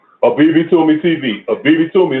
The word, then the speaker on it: Abibitumi: BB Toomey is spelled ABIBITUMI TV.